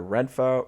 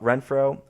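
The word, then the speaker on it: Renfroe: ohtani Anthony Rendon former World Series champ Hunter renfo Renfro Brandon Drury Jared Walsh Logan Oh happy we checked the pronunciation on that one and David Fletcher rounds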